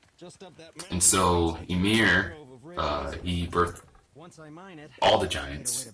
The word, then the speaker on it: Ymir: And I want to say his name is Ymir, right? And so Ymir, he birthed all the giants and the gods also. But when Odin saw how fast they could reproduce, or how fast Ymir could reproduce, he decided to kill him.